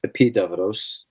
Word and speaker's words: Epidaurus: The main healing sanctuary of Asklepius is Epidavros, spelled Epidaurus in English for people who see it, but it's pronounced Epidavros.